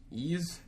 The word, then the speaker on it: Ys: announced here, Ease.